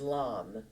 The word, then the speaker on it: LAM: And the Bija Mantra, the single syllable mantra for your root chakra is LAM, L-A-M.